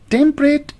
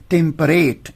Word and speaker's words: temperate: pronounce the word is temperate. Even it is pronounced as temperate, but we can pronounce it as temperate to rhyme it with date.